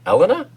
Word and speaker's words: Helena: stop pronouncing the h stop pronouncing the age and her name bottom oh okay i was going to say elena that's really weird ellen shaw helena bottom carter and yes that would be really funny if you did that well no i'm sorry i'm sorry elena but shakespeare said to not pronounce the h in your name you know i mean